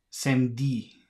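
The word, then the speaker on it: samedi: look at this word by Crossing out the E how many consonants follow each other so they've got same D say they they've written down same D which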